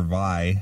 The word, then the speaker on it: Vie: And it's the return of Donnie Vie or Vi. How do you say it? V? It's V.